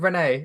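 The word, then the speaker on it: Rennes: Well, first of all, it's Ren for a start, because in France you don't pronounce the last What, letter.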